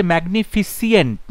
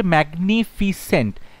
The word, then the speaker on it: magnificent: দেখো ম্যাগনিফিসেন্ট, এখানে কিন্তু বানানটা থেকে উচ্চারণটা ইম্পর্টেন্ট। একটা জায়গায় বলছে ম্যাগনিফিসিয়েন্ট, না ফিসিয়েন্ট নয়, ম্যাগনিফিসেন্ট না, ম্যাগনিফিসেন্ট নয়, ম্যাগনিফিক্যান্ট না, কথাটা হচ্ছে ম্যাগনিফিসেন্ট, ম্যাগনিফিসেন্ট, MAGNIFICENT, ম্যাগনিফিসেন্ট।